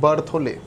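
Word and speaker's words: Berthollet: दूसरे आपके आए वोलर, तीसरे हैं बच्चों कोलवे, और फोर्थ हैं बर्थोले, बर्थोले, बर्थोले बोलेंगे, लिखेंगे बर्थोलेट, टी लगाएंगे, ठीक है ना, टी साइलेंट होता है।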